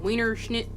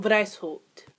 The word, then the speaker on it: Weishaupt: Adam Wienerschnitt. White. Oh, Lord. Is that German? Wow, it is German. Wow, I should probably fucking know that. So, the founder was actually Adam Weishaupt.